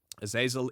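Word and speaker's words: Azazel: new creature called a zazil if I'm pronouncing that correctly ail is correct yes aasil is an ancient demon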